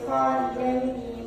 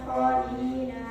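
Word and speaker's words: خالدين: Dan hati-hati khalidaini bukan khalidina terdapat di surah 59 Al-Nas ayat 17 juz 28.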